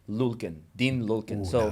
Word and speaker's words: Lyulkin: I like that pronunciation. Lyulkin, Dean Lyulkin.